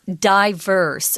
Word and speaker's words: diverse: some beautiful diverse geography diverse is also pronounced diverse you'll hear both pronunciations they're both correct okay so the next